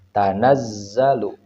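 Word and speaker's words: تَنَزَّلُ: kita ambil contoh ini harus ditekan ya tanazzalu atau waruhu tanaz ditekan di huruf Za tanazzalu warruhu atau dalam lafaz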